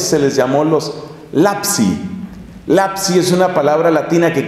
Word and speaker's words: lapsi: Lapsi es una palabra latina que quiere decir los que cayeron.